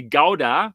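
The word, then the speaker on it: Gouda: the Netherlands to um howda I think you would pronounce it yeah in Germany we say gowda yeah like the cheese but honestly speaking is pronounced differently and yeah they had they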